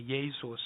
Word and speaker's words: Jesus: to find funerary art, instead of a J, which would be pronounced as an I anyway, Jesus, right? Instead, they begin hardening that J, and it comes out to be a Z. Jesus.